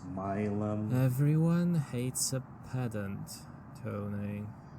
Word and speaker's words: Milam: Hopefully, if we beat this traffic, we might have to go through Milam. It's actually pronounced Milum.